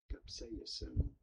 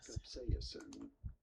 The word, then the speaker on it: capsaicin: In British English, this is normally said as capsaicin. You do want to stress on the second syllable, on the say syllable. Cap-say-a-sin. Capsaicin. Cap-say-a-sin.